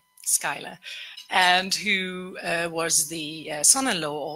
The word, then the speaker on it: Schuyler: And there was George Lee Schuyler, I think you pronounce it, Schuyler, and who was the son-in-law of this Hamilton, and himself the grandson of General Schuyler of revolutionary fame.